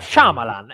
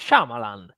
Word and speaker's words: Shyamalan: Però quello, dai, sbagliare la pronuncia di quel regista già più normale, dai, dai, quella concedimela, dai. Shyamalan, è facilissimo, Shyamalan.